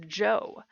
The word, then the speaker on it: Zhou: So the Zhou period, yes, it's pronounced Zhou.